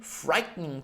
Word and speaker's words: frightening: Anche qua non frightening, ma ancora GH è muto, come in 8, come nel numero 8, 8. Lo scriviamo E-I-G-H-T, ma lo pronunciamo 8. In questo caso, frightening. Anche qua la E non la leggiamo, frightening.